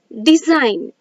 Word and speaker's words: design: is silent so here when i g n so in this i g n comes together the letter g is silent so we pronounce it